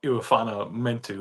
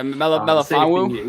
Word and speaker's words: Melifonwu: I mean, we swung and missed early on I can't pronounce it. Iwafana Mentu or whatever. Yeah, Melifonwu. Yeah, Melifonwu.